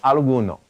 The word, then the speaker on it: algún: So let's first take alguno. Now, with this word alguno, before a masculine noun, it's going to change to this, algun. Now notice that accent on the U.